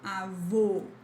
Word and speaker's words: avô: So when you see this hat on top of the word, the sound is closed. So avô, avô.